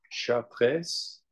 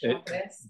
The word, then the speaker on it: Chartres: So I pronounced that wrong. That cathedral is Chartres. Okay, Chartres.